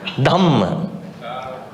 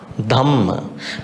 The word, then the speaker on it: Dhamma: Dhamma. Dhamma. Because this is called aspirate. In English we call it aspirate. So you have to pronounce with the H. Dhamma.